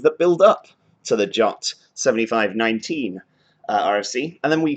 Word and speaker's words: JWT: And inside that RFC, it actually says it's pronounced JOT. The RFC includes the pronunciation of the abbreviation, so that's important. I will try and actually call it JOTs for the rest of